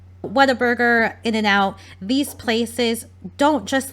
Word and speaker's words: Whataburger: My boyfriend's from Texas and he laughed at me because I thought it was called Waterburger. Whataburger, In-N-Out, these places don't just like get frozen patties delivered to them.